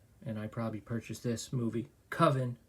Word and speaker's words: coven: Coven, that's the proper pronunciation. No. Coven sounds like oven, man, and that's just, it doesn't work.